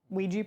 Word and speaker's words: Ouija: Ouija board.